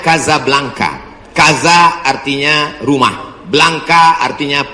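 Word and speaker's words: Casablanca: ke mesjid Hasan dua Kasablanka ibukota Maroko tempat saya kuliah nama negaranya Maroko ibukotanya tulisannya Caca blancha cara bacanya Kadzab langka Kaza artinya rumah Blanca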